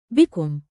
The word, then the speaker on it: بكم: Bikum. Use it anywhere. Shops, markets, ticket booths. Remember the mnemonic, be calm.